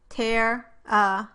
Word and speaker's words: terrified: The word terrified has stress on the first syllable and you can see that the pitch of the voice rises slightly and is highest on that first syllable.